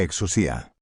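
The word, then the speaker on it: ἐξουσία: Exousía, que fonéticamente se pronuncia exusía, significa autoridad legítima, poder delegado, crío, J acento agudo, que se pronuncia j río y significa ungir con propósito divino.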